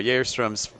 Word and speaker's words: Jägerstrom: He says that we can just drop the G. So Jägerstrom's what I've been advised from the man himself.